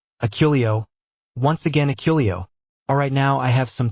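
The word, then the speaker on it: Accio: Zabini, there is no S in Aculio. It is pronounced Aculio, not Asculio.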